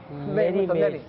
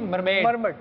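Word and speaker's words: mermaid: मरमेड, मेरी मेज नहीं मरमेड।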